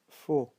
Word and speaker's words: faux: Chaud, faux. So you don't pronounce actually the T, the D and the X too, because there's an infinitive word in French having silent letters, but don't worry.